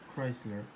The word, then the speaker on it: Kreisler: with this brand Chrysler well actually I'm not sure if it's pronounced Chrysler or Chrysler like the car brand it's actually written differently with a k and it's actually spelled at k r e i SL r Chrysler with a K hmm yes with